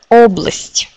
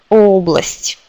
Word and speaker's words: Область: Et ici, c'est область, c'est région. Encore un mot. Область, région, avec l'accent sur O. Область.